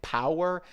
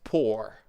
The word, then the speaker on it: pour: Magdalena, just the pronunciation, you said a little bit like power. It's pour.